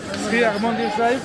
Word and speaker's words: Sri Harmandir Sahib: Sri Harmandir Sahib?